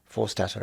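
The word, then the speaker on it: Forstater: Maya Forstat is very brave. Is that how you pronounce it?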